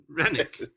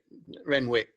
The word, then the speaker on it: Renwick: to yeah yeah absolutely so which is the correct pronunciation okay Renwick take to Renwick REM remwick yeah uh